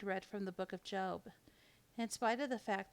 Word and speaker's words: Job: Magi or the star job pronounced job was your basic nice